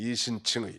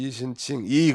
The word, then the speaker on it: 이신칭의: 이신칭의. 한번 따라서 봅시다. 이신칭의. 경상도 사람은 의자를 발음을 잘 못해. 이신칭의라고 했더니 이신칭이 그러더라고요.